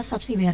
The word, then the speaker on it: Sabsiber: Jadi kalau kita kembali lagi ke topik kita bahwa penobatan pemimpin marga ataupun karet ini berarti lebih tepatnya pengucapannya adalah subsiber ya Mansa.